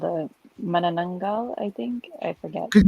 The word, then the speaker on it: Manananggal: What's the first syllable? Metagango? Miranongo? Is that what you said? Let's check that out. Yeah, Manananggal.